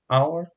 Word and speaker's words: hour: Hour começa com H, que é uma consoante, mas é um H mudo, não é pronunciado, então a pronúncia da palavra hour começa com som de vogal.